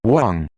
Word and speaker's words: Wang: It's pronounced Wang.